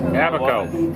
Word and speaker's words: Abaco: Will someone tell me so it is how you pronounce the island we're on? Abaco.